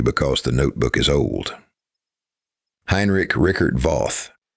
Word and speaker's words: Heinrich Rickert Voth: Heinrich Rickert Voth, pronounced Heinrich Rickert Voth, published extensive Hopi traditions.